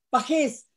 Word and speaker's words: Pagés: Pajés, Pajes. pajés, ajá, sí, Pajes. lleva acento en la E, pajés, a la orden.